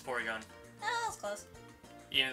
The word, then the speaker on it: Porygon: I was trying to pronounce, I was like, wait, is it Polygon? It's Porygon.